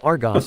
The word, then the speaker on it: Argus: Now, I see that you asked to postpone your mission to the Argus sector. For what reason? The supplies we need are cheaper at home bargains, and it's pronounced Argos, sir.